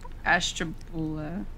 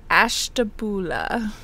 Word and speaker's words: Ashtabula: Do not kill me for not pronouncing that correctly. Ashtabula. Ashtabula.